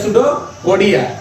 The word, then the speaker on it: pseudopodia: That is called a सूडोपोडिया, बट the meaning starting from the सूडोपोडिया इज अ पी, सो पी इज a silent in that condition and only say that the सूडोपोडिया।